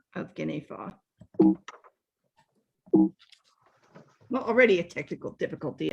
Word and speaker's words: Guinefort: have noticed that we uh do not say guineafort we call this dog Saint guineafa which is the actual pronunciation of his name as far as I